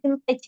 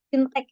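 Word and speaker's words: fintech: tapi mungkin tadi ya bukan vintage ya vintech ya vintech Nah itu untuk menyebutnya bukan vintage gitu ya vinttech kemudian p2p itu membacanya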